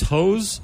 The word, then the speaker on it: Heaux: This song is actually called "These Hoes," but it's spelled HEAUX.